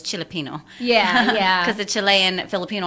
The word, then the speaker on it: Chili Pino: chili Pino so I I said it that way so that you guys can know how to spell it chai-li but it's chilly Pino yeah cuz the Chilean